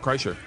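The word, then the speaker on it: Kreischer: your last nameer you said it right yeah Cher and uh it's bird Cher ker on Twitter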